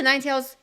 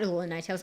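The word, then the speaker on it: Ninetales: start over okay alola Ninetails or sorry alola Ninetails um that's a get rid of it start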